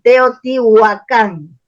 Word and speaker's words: Teotihuacán: la encontramos en Teotihuacán se escribe con wv y con k es como se revitaliza el nombre Porque los curas le ponen con h y dicen guacán y con c Ah cambian lo deforman el nombre y en